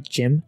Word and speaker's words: GM: at least a person is using gym or gm but everybody pronounces a gym and it looks okay